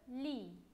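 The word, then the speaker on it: lit: Et on a aussi le li. Ici, on ne prononce pas le T. On prononce seulement L, I.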